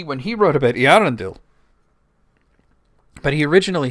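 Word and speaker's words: Earendel: angel in it named Irrendle, you know, and he had it the accent on the A rather than the E when he wrote about Arendel, but he originally spelled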